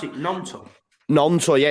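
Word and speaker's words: Gnonto: Nonto. Nonto, yeah. It's like a silent G.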